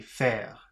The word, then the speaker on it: faire: And final is F-E-R, so that should be faire. Berner, passer, faire. Berner, passer, faire. Okay. 61.